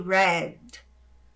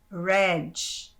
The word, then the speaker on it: red: de hare hare ok Aqui nós temos o ênfase na letra D que é seco ele é mudo o que é Red hen bom então se você não presta atenção a tendência você dizer Red como a gente faz em português dia diálogo Ok então cuidado